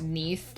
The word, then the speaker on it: Neath: have the peanut um her name can actually be pronounced Neath like beneath um the celestial mother